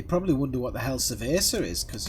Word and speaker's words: cerveza: They probably wonder what the hell cerveza is, because you don't pronounce it with a V. For a start. The Spanish language, a V is pronounced like a B.